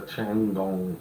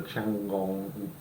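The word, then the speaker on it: Tiangong: So, China are going to send up the Changong 2 in September. Stop upsetting people. No, that's got to be how it's pronounced. Changong.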